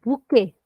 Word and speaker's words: bouquet: not spoken at all that's why when we say the word bouquet we are not saying the last letter can we all try